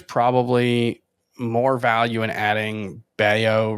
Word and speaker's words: Bello: So it's going to look like Bello, but it's actually pronounced Baio, and he is having just a ridiculous season